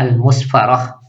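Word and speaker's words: المصفرة: Al-musaffarah ya, yaitu bidhammil mim wa sukun sad, al-musfarah. Kemudian ra-nya difathahkan, berarti bacanya al-musfarah ya.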